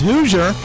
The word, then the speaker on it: Hooser: It's Hooser, just like the state, Indiana Hoosiers, except we do not have the I in the name.